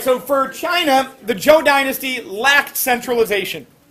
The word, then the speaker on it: Qin: as the state of chin which is where we get our name china today so this q i n is pronounced chin that q gets like a ch sound just like when we